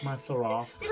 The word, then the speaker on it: seraph: She is a freeborn skykin seraph. Yes. Yeah, that's how you pronounce it.